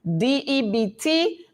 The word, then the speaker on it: debt: DEBT, the B is silent.